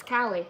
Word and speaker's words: Kali: They're like, Kaylee? I'm like, no, it's Kali. Y'all have a ride. For all the Disney buffs out there, I feel like they should be able to pronounce my name. You know, the true Disney lovers. California. It's like California, but with a K.